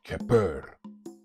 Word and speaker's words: Kheper: And those 3 syllables are ke, pe, er. Ke, pe, er. And when you contract it, it becomes Kheper.